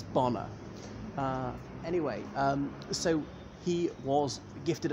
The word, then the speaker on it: Bonar: not just law and it's often mispronounced Boehner as in the American Val Garrety which is which is a mispronunciation it's bomber anyway so he was